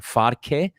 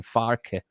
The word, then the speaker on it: Farke: They've got that Borussia Dortmund style manager in Farke. I think that's how I heard people saying his name, Farke.